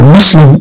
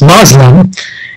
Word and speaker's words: Muslim: The same can be said about the word Muslim itself. Sometimes we heard the term is pronounced Muslim, and the Muslim is a French, again, a Franco appellation to the language.